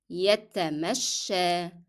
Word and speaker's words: يتمشى: To take a walk يتمشى يتمشى. And the last letter of this word is ya, but it is pronounced as alif because it is preceded by fatha.